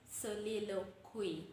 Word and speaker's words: soliloquy: It is supposed to be pronounced soliloquy.